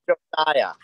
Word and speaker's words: Josiah: Is that Joey Tilton or who's Hosea Tilton? It says Josiah. Is it Joey? It's pronounced Josiah.